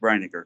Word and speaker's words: Breiniger: Also, Breiniger. It's pronounced Breiniger, correct? Yeah, you did that correct.